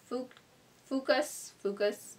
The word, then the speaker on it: fucus: Contains rice starch for smooth texture and shine-free skin results, formulated with a combination of natural extracts, including fucus. It rhymes with mucus. It's spelled like mucus.